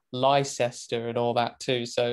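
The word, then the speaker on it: Leicester: right just outside Silverstone you've got toaster but it's spelled tester and then of course you got Lester and all that too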